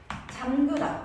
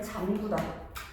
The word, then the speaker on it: 잠그다: 표기도 이렇게 하는 것이기 때문에 또 대표적인 예시 잠그다. 눈을 잠그다라고 하죠. 그렇죠? 많은 친구들이 이번 줄 알고 문을 잠구다. 아니야. 소독지 잠구다. 문을 잠구다. 잠구가 아니라 뭐예요? 잠 그다.